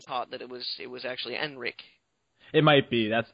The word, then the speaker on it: Henrik: I know that you didn't pronounce the H, but I had been taught that it was actually Enrik.